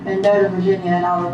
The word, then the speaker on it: Mendota: Mendota? How you say it? Yeah. Okay. Is that how you say that? That's right. Mendota, M-E-N-D-O-T-A, Virginia.